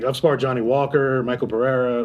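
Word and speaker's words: Michel Pereira: Like I've spar Johnny Walker, Michael Pereira, or I guess Michelle Pereira is how you say his name, but whatever.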